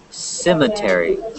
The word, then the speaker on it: cemetery: Cemetery. Okay, cemetery. You say it with an S.